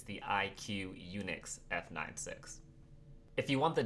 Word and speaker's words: IQUNIX: It's the IQUNIX F96.